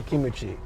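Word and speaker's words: キムチ: Soul 248 says, "How do you say kimchi in Japanese?" They just say kimuchi.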